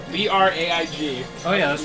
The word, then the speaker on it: Braig: Ah, the original name is Braig. B-R-A-I-G.